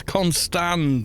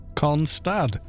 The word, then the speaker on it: Constad: They said it's Constand, and I was like, it's not. There's no N. Look, Constad.